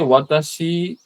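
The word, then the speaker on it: は: তো এখানে লেখা আছে যে ওয়াতাশি, এখানে আপনি ইংরেজিতে হা দেখলেও এখানে উচ্চারণটা ওয়া হবে।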